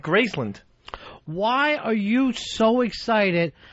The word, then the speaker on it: Graceland: He does pronounce it Gracland. He That's another first syllable disaster right there. That was wrong the way you said it. No, no, it's it's it's Graceand. Grace. I'm going to Graceland.